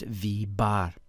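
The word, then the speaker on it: v̄: This is pronounced v bar.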